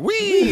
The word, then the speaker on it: Wee: My name is Wee, and it's spelled a bit differently. Yep. my last name is WEE. It's pronounced the same as French for yes, so I'm known to my students as Mr.